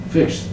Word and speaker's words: fixed: Fixed. It's T sound at the end.